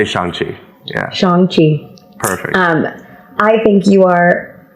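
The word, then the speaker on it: Shang-Chi: film oh my god am i saying that right shang you know people say shang people say shang either either you pronounce it for me so that because pronunciation in my opinion it does matter and i i i want to make sure we all know how we actually pronounce the title of your film yeah um i would say shanxi um i think you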